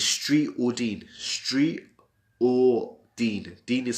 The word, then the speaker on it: Deen: Street or Deen. Deen is spelled D-E-E-N.